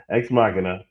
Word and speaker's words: Ex Machina: X Machina.